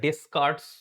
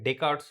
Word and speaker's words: Descartes: সেটাকে বলা হচ্ছে এই যে লিখা আছে দেখো ডেকারস রুল অফ সাইন তো এটা ডেসকার্টস তুমি উচ্চারণ করতে পারো বাট এটাকে ডেকারস উচ্চারণ করে ডেকারস রুল অফ সাইন এইভাবে উচ্চারণ করে আর এটা বেশ দারুণ